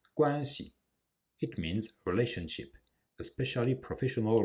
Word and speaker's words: 关系: As I said in previous video, the C loses its tone in the word guanxi. We do not say guanxi, but guanxi.